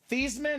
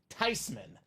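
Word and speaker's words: Theismann: said no I'm not mad it's actually not pronounced thean it's not thyman it's actually tyman pronouncing it wrong the whole time is what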